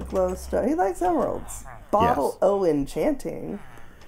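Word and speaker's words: Bottle o' Enchanting: I know um but it's O Apostrophe right yeah yeah so it's an abbreviation for of uh so the they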